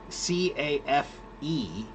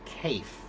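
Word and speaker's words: café: The word cafe is a French word. That's why we pronounce it that way, right? But it's spelled Mm-hmm. C-A-F-E, right? If that were following English rules of pronunciation, it would be pronounced cafe. But Okay. Yeah. because it's a French word, we pronounce it cafe, right?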